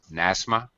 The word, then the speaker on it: Nasma: correctly nasma nasma nasma it's an S sound nasma um um I think